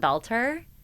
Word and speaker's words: Belter: Last name Belter. My dad always used to say it was like belt like the wear that you wear on your pants.